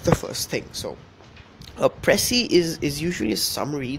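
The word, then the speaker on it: précis: Okay, this is not pronounced just as precis. It's a pressy and uh in this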